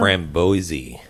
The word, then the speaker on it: Framboise: This is called Framboise. Oh. Yep. I don't remember which one. Is this some kind of berry one? But before... Framboise. It does look like Boise, Framboise, Idaho. but it's called Framboise.